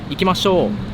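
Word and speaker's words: 行きましょう: Ikimashou.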